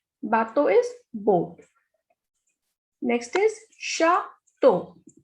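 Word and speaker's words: château: Next is chateau. CH is sh, so it is chateau.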